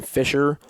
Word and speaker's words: Fischer: his name is also greg fischer but most when you see here the name fisher a lot of people don't think there's a c in there obviously the c is silent so a lot of